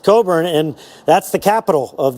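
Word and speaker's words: Cockburn: is called Coburn town it was a Scottish name pronounced Coburn and that's the capital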